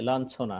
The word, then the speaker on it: লাঞ্ছনা: এরপরে আছে ইয় যোগ ছ, যেমন আমরা বলি লাঞ্ছনা, হ্যাঁ এর উচ্চারণটা ন যোগ ছ এর মতো হবে, ন যোগ ছ এর মতো লাঞ্ছনা। যেমন এখানে আমরা দেখি লান ছো না, অর্থাৎ ইওটা নয়ের মতো উচ্চারিত হয়ে গেছে।